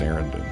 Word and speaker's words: Sarandon: Yeah, it's pronounced Sarandon.